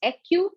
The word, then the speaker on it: acu: Acupressure, actually the term acupressure consists of two terms, that is acu plus pressure. Okay. It is a type of therapy. Yes, so acu means, actually you can pronounce it as aku also.